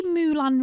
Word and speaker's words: Moulin: It's Moulin Rouge. Well, I've said how to pronounce it, and it says Moulin Rouge.